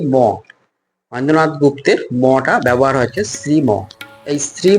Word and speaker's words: শ্রীম: ঘর যেটা বলা যায় এটা শ্রীম আমি উচ্চারণ শুদ্ধ করে নিলাম এটা শ্রীম বলবেন না শ্রীম বলবেন আমার পিছনে দেখছেন গর্ভগৃহ।